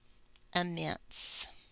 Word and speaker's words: immense: you hear immense mints so one of those vowels is not talking that's what this is telling me so let's figure it out we know that we have to break between double letters so we have M mints okay this is the schwa sound right here mints this is the vowel that's not talking that silent e on the end so you're hearing immense